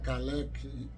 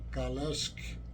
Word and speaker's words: Kalecki: mais da área né em vez de chamar CeC pronuncio a forma lá polonesa mesmo kales né mas para nós